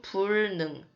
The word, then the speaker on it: 불능: 자, 여기서는 부지, 여기서는 불능. 똑같은 한자인데 달리 읽었어요.